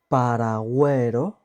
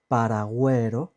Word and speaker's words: paragüero: Paragüero, güero, we pronounce the U. And this is because on the top of the U, we have diéresis, these two little dots on the top of the U.